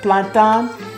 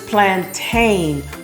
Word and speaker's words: plantain: I like the French pronunciation of planton versus plantain, but both are correct.